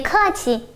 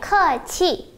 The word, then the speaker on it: 客气: Qì chúng ta đọc thanh nhẹ sẽ hay hơn ha. Người Đài Loan thường đọc là qì, tức là thanh 4. Bě kè qì, đó là giọng người Đài Loan. Còn người Đại Lục, giọng chuẩn tiếng phổ thông Trung Quốc sẽ là 别客气.